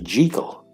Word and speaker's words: Jekyll: the doctor's name in Scotland it would be jekal why then the mispronunciation in the 1941 film starring Spencer Tracy